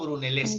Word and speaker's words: Brunelleschi: Brunelleschi se Fue un, pronuncia, Dayana. Filippo Brunelleschi.